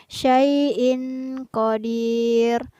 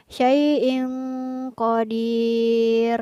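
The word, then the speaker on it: شيء قدير: jelas atau dibaca samar kurang tepat jika kita membacanya syai'in qodiir tapi yang benar adalah dibaca samar sai in qodir hai sekarang ayat yang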